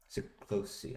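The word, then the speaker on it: Siklósi: SIklosi.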